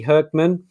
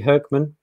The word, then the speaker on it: Hoekman: Billy Hoekman. I think it's Dutch, but that's maybe the first. You're correct. Yes. Yeah. Okay. There he is. Okay. Billy Hoekman.